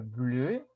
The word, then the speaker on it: bleus: Attention, les trois bleus, on va les prononcer pareil. Le camion bleu. Le camion bleu, il a les yeux bleus, la fleur bleue, la couleur bleue.